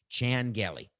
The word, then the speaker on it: Chan Gailey: So Chan and Shan, maybe, is that how to say it, Coca? Channel. It's amazing. I mean, we couldn't prepare for this because, like Jackie Chan. Thank you. Chan Gailey.